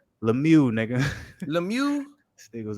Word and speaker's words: Lemieux: Lemieux, nigga. Lemieux? This nigga was about to call him Lemieux Mill, nigga.